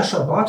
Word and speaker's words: Shabbat: Yeah, Shabbat. Sure. And Shabas. Shabas, too. Shabas is for the European Jews, Ashkenazis. and Shabbat for the Israeli Jews. That's the Sephardic dialect.